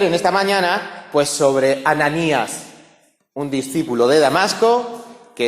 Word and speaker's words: Ananías: tenía un nombre hebreo en el idioma griego se pronuncia ananías y ya hemos visto